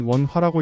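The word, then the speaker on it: 文化: 중국어로는 원화라고 읽고 일본어로는 분카라고 읽습니다.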